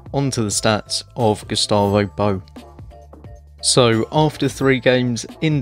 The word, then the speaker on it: Bou: And I just want to give a quick shout out to commenter Camboozle6, who did allow me to know that it's pronounced Bou and not Boy.